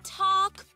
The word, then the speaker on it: talk: The letter L is usually silent when it comes before the letter K. Like in talk, or folks, or...